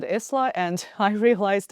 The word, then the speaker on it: Isla: that it's a Scottish word that is pronounced with the S being silent, and also I have since tried to like deduce why I said Isla, and I realized it's